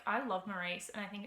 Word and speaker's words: Maurice: Forster, which I think they pronounce it Morris in some countries, but I say Maurice.